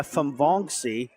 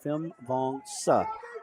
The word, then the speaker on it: Fonga: filled nice job there by foni or fonga should say fonga I'm going to have to work on my syllables there nice job there